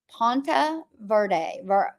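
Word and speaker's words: Ponte Vedra: guys okay I'm in I've been saying it wrong it's Pont Verde Pont V Beach I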